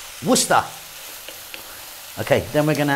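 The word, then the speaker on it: Worcestershire: of that but yeah just pronounce it worcester okay then we're going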